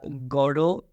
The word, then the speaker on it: Godot: Waiting for God also is it goldo or a godo well it's uh Gordo in British pronunciation and in American pronunciation they call it I mean uh let's